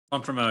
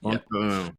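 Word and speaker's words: Font-Romeu: Fontfremaux, yeah. Fontfremaux.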